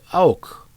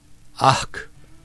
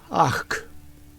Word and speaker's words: Ach: They pronounce the H sound. It's not silence. Ach, like you're about to cough up some phlegm. She giggled. Orcs are weird, aren't they? Iva Tarak Lub Tar Ach.